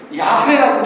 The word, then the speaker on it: 야훼: 영어식으로 저희가 익숙합니다만 예수 하나님의 이름을 비교적 정확하게 알고 싶은 분들께서는 야훼라고 기억하시는 게 더 좋아요.